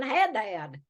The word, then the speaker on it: Haddad: I just say it's Haddad. That's the way I've always Yeah, said it. I was So just yeah, gonna say down there, they're saying Haddad.